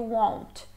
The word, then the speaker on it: won't: Nem vai pronunciar esse T aí do won't.